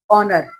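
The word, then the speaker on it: honor: vowel sound ठीक है लेकिन ये है तो अल्फाबेट एच से स्टार्ट हो रहे है लेकिन जब आप इसको बोलते हो तो ओ का साउंड आता है ऑनर ऑनेस्ट ओ का साउंड आ रहा है तो ओ क्या है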